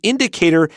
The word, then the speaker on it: indicator: Normally, this OR suffix is just pronounced Pretend that it's ER, but remember to spell it OR. So it's monitor, indicator. We don't say monitor, indicator, because a lot of L2 learners, they have trouble with the schwa.